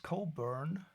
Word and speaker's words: Cockburn: Probably pronounced Cobburn. Well, I'm a German and I'm allowed to say cockburn.